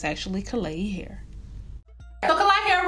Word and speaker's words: Klaiyi: kalai hair okay so the actual pronunciation of the company's name is clay e hair clay hair i didn't